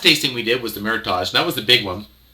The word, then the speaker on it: meritage: percent cat frog so meritage uh i'm not saying it right meritage i should say meritage uh meritage is um